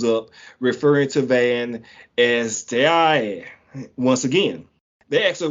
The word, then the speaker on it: Tarrare: No, it's Tehar. I got this pronunciation. Tehar. And well, he said it like you said it, but I found the actual one.